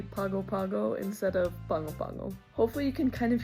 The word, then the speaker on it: Pago Pago: It's right there in the back of your throat. It's like you're saying ping pong, or like the capital of American Samoa is Pango Pango. So ping pong, Pango Pango.